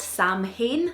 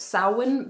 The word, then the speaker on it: Samhain: samhain and i'm from a dyslexics out there it's spelt samhain that's how i remember how to spell it